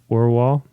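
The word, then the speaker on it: Orual: a proper pronunciation of Orwell, which is her name. Orwell? Is that how you say it? Orwell. Orwell. Like just the W. Orwell. Like or from the ground and wall.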